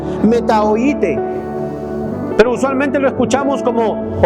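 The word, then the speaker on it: μετανοήσατε: No, les dio, esta palabra en el griego, en el original, se escribe metanoasate. Se pronuncia metaoite.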